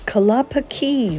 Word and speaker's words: Kalapakī: wheelie wheelie means the wheelie wheelie tree and kalapaki the correct pronunciation of the bay behind me means either